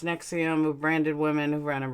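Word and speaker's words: NXIVM: of like Keith Raina from XM pronounced nexium of branded women of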